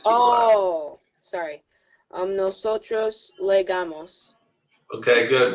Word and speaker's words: llegamos: When a double L, you pronounce it like a Y. Llegamos. Oh, okay. Now, I have a little bit of I learned my Spanish in Argentina, so I actually say it like a J almost, llegamos, because that's how they say it there.